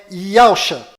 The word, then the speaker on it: Yahusha: O verdadeiro nome do Messias está do lado direito da sua tela e a pronúncia dele é Yahusha.